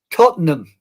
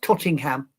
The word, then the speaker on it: Tottenham: Yeah, because I know it says it's in Tottenham, England at the Excuse me. It's in London, England at the Todd Tottenham Hotspur Stadium. Tottenham, not Tottingham. Tottenham.